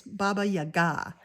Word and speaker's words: Baba Yaga: Some I had a Russian follower tell me how to say it's Baba Yaga.